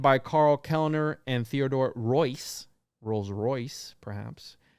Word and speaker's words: Reuss: Founded by Karl Kellner and Theodore Reuss, Rolls-Royce, perhaps. It's spelled R-E-U-S-S, and it's pronounced Royce.